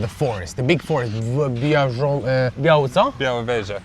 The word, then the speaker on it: Białowieża: Białowieża. Białowieża.